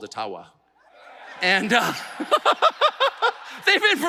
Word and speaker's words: Ottawa: And I called it Ottawa many, many times, and I would get these outraged. You don't even know enough about our country to pronounce the name correctly. And of course, it was intentional until I received a very sincere email from an Ojibwa First Nations leader who said, actually, it's called Ottawa.